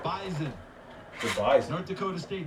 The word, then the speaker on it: Bison: Yeah, the Bison. And make sure you say it correctly, because if not, they will let you know they're not the Bison. Right. They're the Bison.